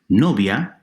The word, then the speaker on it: novia: Likewise, novia, girlfriend or bride, 2 syllables, no-via. I and a combine into a single sound.